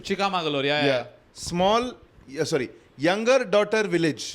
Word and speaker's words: Chikmagalur: And Chikmagalur, it's actually pronounced Chikamagalur. Chikmagalur, yeah.